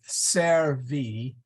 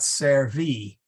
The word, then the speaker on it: servi: yeah yeah and and make it Ser V not servey and actually I think